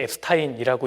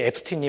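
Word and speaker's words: Epstein: 우리나라 언론에는 제프리 앱스타인이라고 이야기하는데 제프리 앱스틴이 맞습니다.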